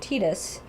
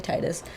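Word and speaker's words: Tidus: They have Riku, Waka, and Titus, whatever country you're in, depends on your pronunciation of that. But Sure. we say Titus.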